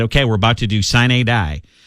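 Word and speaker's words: sine die: we're about to do sign a die and i think i'm pronouncing that right it's s i n e and then capital d i e it's latin it's means means the end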